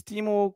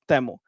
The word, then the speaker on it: Temu: So like, what is Timu could be like, first, what is Timu? If it's safe, I guess proper pronunciation is Temu.